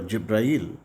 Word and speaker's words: Jibril: through angel gabriel or jibril in arabic this word is this name is pronounced differently gabriel is called jibril and the verses were